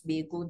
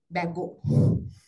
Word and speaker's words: Bago: this I don't know I thought it's beo but they they said Bago Pharmaceuticals and all participants